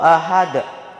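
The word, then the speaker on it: أحد: Jadi cara membacanya qul huwallahu ahad, bukan dibaca qul huwallahu ahad.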